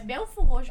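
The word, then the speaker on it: Belford Roxo: É Belfort Roxo, não é Acho que eu falei Belford o quê? Roxo. Belford, isso, eu falei É Belfort Roxo. E se escreve Belford, mas não é.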